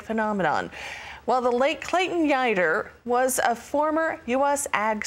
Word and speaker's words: Yeutter: authored the guider biography rhymes with fighter which was published earlier